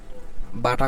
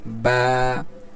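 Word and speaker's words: باء: দুইটা ঠোটকে আমরা মিলাইলে মিলানোর পরে যে ঠোটের ভিজা জায়গা আছে অর্থাৎ ভিতরের অংশ এখান থেকে কি বাটা উচ্চারণ হবে বা বা দুই ঠোটের ভিজা জায়গা থেকে উচ্চারিত হচ্ছে বা আর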